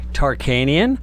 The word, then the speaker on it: Tarkanian: Right here I have Danny Tarkanian running for the GOP U.S. Senate, right? You did. You did I pronounced say it the right?